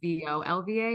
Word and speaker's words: Volva: And the way the company is spelled is Volva, not Vulva.